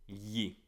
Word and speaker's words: gli: Where they're going to take yi. G-L-I is pronounced yi. Almost like you're trying to say li, but your tongue is a bit tied. It's a bit stuck in the back of the throat.